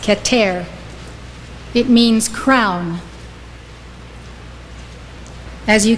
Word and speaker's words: Keter: for spherote is called keter it's spelled k-e-t-e-r pronounced ketter it means crown as